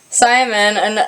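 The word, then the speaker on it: Symn: Simon, but it's spelled like S-Y-M-N, because, you know, it's trying to be so special.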